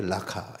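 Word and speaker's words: ῥακά: 그런데 미련한 놈이라고 쓴 것도 제가 궁금해 가지고 어 그 원어를 왜 라가는 라카 원래 라카 이렇게 발음이 라카 이런데 이거는 원어로 썼는데 미련한 놈은 나 번역을 했지 그래서 궁금해 가지고 봤더니 그 문장 사이에 모래 이렇게 써 있어요.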